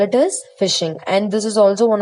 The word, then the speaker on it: phishing: want to learn about is about phishing be pronounced it as phishing but the spelling for it is pH I